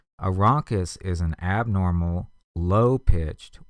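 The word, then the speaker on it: rhonchus: blocked bronchial tube and the textbook gives us a little pneumonic bronchus rhymes with bronchus so if you've got a blocked bronchus something going on there the physician's going to hear a ronus again that is a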